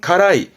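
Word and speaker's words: 辛い: 아시는 대로 맵단 뜻이죠 발음은 가라이 가라이 맵다이 뜻이었고 이렇게 쓰면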